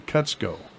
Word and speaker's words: Kutzko: Now the forum featuring Sean Kutzko.